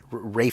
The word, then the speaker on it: Ralph: Rafe Fiennes. Rafe Fiennes, Ralph Fiennes, Rafe Fiennes. Ralph. I think I'm looking at a typo actually that I'm reading. No, it's spelled Ralph, but it's Is it?